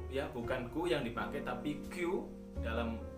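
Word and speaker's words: 九: 29 nya itu kya bukanku yang dipakai tapi kyu dalam pengucapan angka itu yuk ya dulu dia menolaknya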